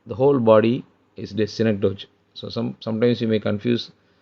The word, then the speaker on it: synecdoche: And synecdoche is used here, but most students pronounce it as synecdoche, but it is synecdoche.